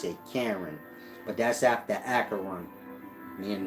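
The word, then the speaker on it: Charon: koran c-h-a-r-o-n for some reason they pronounce it karen but that's after acheron mean the river but it's pronounced acheron and his name is karan and you get my point these rivers lead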